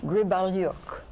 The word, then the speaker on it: Gribelyuk: a very interesting thing now we have Yelena Gribble York have I said it right okay good you're